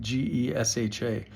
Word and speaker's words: Gesha: Now, I had said that it came from the region of Geisha, spelled Gesha.